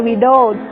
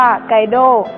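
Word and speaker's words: Guido: พระ ชาว อิตาลี ชื่อ กวิโด ยาซ หรือ บาง ตำรา อ่าน ว่า ไกโด ซึ่ง เป็น ต้น แบบ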